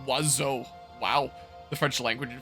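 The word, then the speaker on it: oiseau: even is which is French for bird is pronounced wazo wow the French language in fur too same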